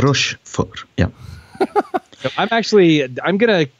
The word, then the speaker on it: Rochefort: How would you pronounce that, Manuel? Rochefort. Rochefort, yeah.